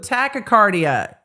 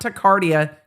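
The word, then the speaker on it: tachycardia: I said it wrong again, but tacocardia, not tacardia. Tacocardia.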